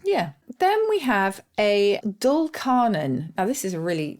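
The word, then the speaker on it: dulcarnon: feet which I quite like and is that spelled with an F or witch interesting yeah then we have a doll carnan now this is a really strange sounding phrase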